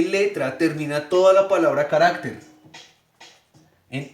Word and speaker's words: carácter: ¿Cuál es la sílaba tónica de la palabra carácter? Carácter, carácter o carácter. Carácter, ¿verdad? Muy bien.